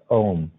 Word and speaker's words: AUM: comprised of three letters AUM pronounced ohm I'll begin the mantra